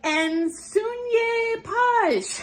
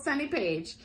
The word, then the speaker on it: Sunny Page: finalists to the floor, they would be like, "Nun page." They came up with these crazy pronunciations for my name. like, "Nope, just an American, plain old Sunny Page, just like it looks like."